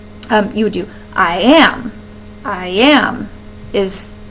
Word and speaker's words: iamb: I am is how that stressing would sound if you're applying it to a word.